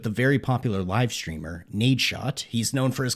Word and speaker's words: Nadeshot: Anyway, I named my character Nadeshot, which coincidentally rhymes with my name, so it actually worked out pretty well.